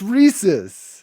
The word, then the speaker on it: Reese's: It's Reese's.